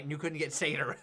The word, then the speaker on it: satyr: I play as the one of the new classes, the satire. The satyr. You're the satyr, and you're doing the partnered. Satire. Yeah, the satire. I got Kiva right, and you couldn't get satyr right.